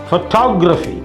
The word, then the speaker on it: photography: You add I, Y, no stress on pho, no stress on gra, photography, because there is some rule. In most words, third syllable from right gets stressed.